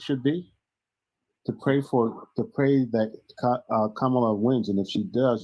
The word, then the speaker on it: Kamala: Kamala, you guys call her Kamala. It's Kamala. I just think use the word camouflage. Kamala. Use the word camouflage to get the first two syllables.